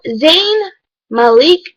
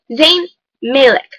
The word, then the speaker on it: Zayn Malik: Li VV y called zayn malik zayn malik it is not zayn malik it is zayn malik clearly stated ok anyway